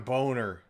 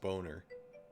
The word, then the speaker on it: Boehner: He insists that his name is Boner. It's like, it's German. His last name is Boner. He's lying to us. It's John Boner.